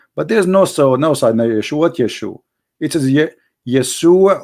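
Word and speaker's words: ישוע: So, and those, it is because they cannot pronounce the correct word. The correct word in the Hebrew is Yeshua.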